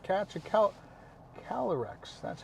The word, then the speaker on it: Calyrex: You did not catch a Calyrex.